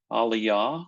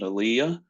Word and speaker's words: Aliyah: is what we call Aliyah some people pronounce it Aaliyah but either way the word means ascent